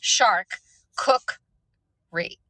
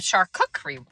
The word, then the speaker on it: charcuterie: Lorenzo says shark cookery. Shark cookery board. A charcuterie board. Charcuterie board.